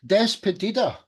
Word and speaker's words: Despedida: Despedida.